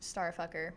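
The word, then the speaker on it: STRFKR: It's just letters. Yeah, but it's pronounced Starfucker.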